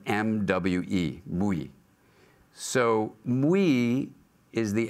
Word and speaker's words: MWe: Well, one way to do it is me, the internal self, and we, the relational self, comes into one word that's spelled M-W-E, mui.